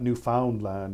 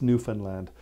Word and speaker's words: Newfoundland: that aren't from Canada they call that Newfoundland and that's not how we call it it's it's Newfoundland um the the emphasis is on the wrong syllable when the rest of